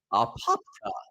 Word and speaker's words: Apopka: Apopka show in Florida is that how you say Apopka Apopka it's a fun word to say that's how you say it most Twitter users users